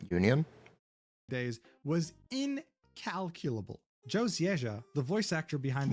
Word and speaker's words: Zieja: So I actually met Joe Zieja. That's how it's pronounced.